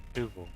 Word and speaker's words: Nouveau: I think I read something about the EAU sounds pronounced like an O sound, but Nouveau.